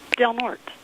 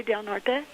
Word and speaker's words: Del Norte: The way we pronounce it is Del Norte. Some of the older generation of the locals here in town do say Del Norte, but mostly the younger generation have always just called it Del Norte.